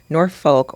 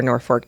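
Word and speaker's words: Norfolk: even more attractive are North Folk or nor fork depending on how you say it but yeah I was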